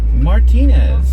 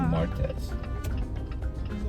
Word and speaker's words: martes: Martinez. Something like that. Martz. Martz. So you say mñana. Mñana. Mñana. Es mortz. Es martes.